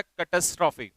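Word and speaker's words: catastrophe: इसका प्रोनाउंसिएशन होता है कैटास्ट्रॉफी।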